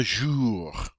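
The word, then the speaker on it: jour: number three coming up oh sure uh sure notice that oh you sound and what does that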